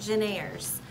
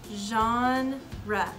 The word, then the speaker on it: genre: times when people see the word genre they pronounce it generis but I want you guys to say the word with me John Rhett say it again genre good job genre means category and so sometimes